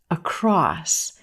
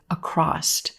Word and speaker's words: across: very common word but sometimes you will hear native speakers say a crossed a crossed adding a T sound at the end of this word no you don't need a t here this word ends in s across a cross this word